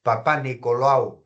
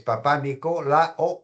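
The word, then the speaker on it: Papanicolaou: No, no es lao, es papá Nicola o U. Así se debe de pronunciar, papá Nicolau, perdón.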